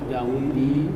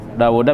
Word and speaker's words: Dawuda: An Dawudi Nabiyyi Dawuda bisa dibaca Dawudi enggak? Hah? Dawuda ya. Jadi nggak pernah kuping Dawudi itu salah. Itu ghair munsharif maksudnya. Jadi An Dawuda aja tetap dibacanya. Begitu ya. 33 halaman 47. Iya. Jadi An Dawuda ya dibacanya itu ghair munsharif itu. Tidak ada tanwinnya kan.